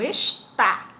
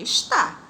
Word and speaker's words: está: tem acento, e o está, que tem acento. Olha a diferença da pronúncia. Esta e está. Quando não tem acento é esta, quando tem acento é está.